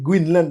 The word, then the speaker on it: Greenland: qui écrime qui dit que pour qui ça prononcer Goenland Groen alors que c'est Greenland by mais c'est question de anglais avec français